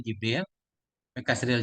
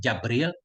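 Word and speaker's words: جبريل: rasulrasulnya Allah dan jibrilil Jim dengan kasrah Jim Jibril W Fatihah dan dengan patahnya Jim jabril dengan tanpa Hamzah jabril atau jabrail juga ada kan riwayatnya Jibril kita baca dengan kasrah Jim dan fatahnya Jim Jibril boleh jabril boleh bila hamdin dengar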